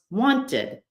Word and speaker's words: wanted: And then literally an extra syllable, the syllable id, after any word that ends in a T or a D. Want becomes wanted.